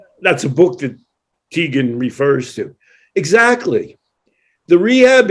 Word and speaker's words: Teigen: How do you say Chrissy Teigen?